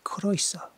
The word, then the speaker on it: croeso: Except we're doing Ren today, and Ren is Welsh, so perhaps I should say croeso.